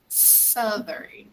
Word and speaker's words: southern: mountains of sultry peru southern desert southern yes southern this is how we pronounce this word southern okay southern guru so